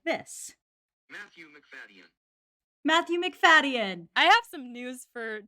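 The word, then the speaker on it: Matthew Macfadyen: according to how to pronounce dot com it's pronounced like this matthew mcfadyen i have some news for 2005 stan twitter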